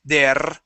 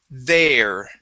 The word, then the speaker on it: there: Okay, right now it's hanging out at the top, and you're saying der. All right, rolling your R. Push it down, and we want to say there.